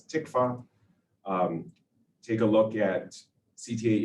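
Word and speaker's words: TCFA: up with discussion of thin-cap fibroatheroma which i will pronounce from now on as tikvah take a look at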